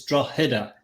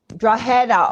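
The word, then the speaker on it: Drogheda: good attempt at the pronunciation the G is is silent believe it or not so it's like a h it's draa draa okay well then I was way off I'm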